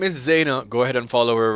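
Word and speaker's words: Zhayna: on all social media platforms at I am Zena so my name is spelled z h a y n a and of course you can follow my music on all musical platforms my name is Zena again so it's z h a y n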